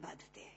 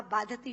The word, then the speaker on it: बाधते: जितना आपके मुंह से बोला हुआ बाधति शब्द कष्ट दे रहा है क्योंकि बाधते शब्द का अशुद्ध उच्चारण आपने किया है यह शब्द बाधते होना चाहिए भारत न बाधती राजन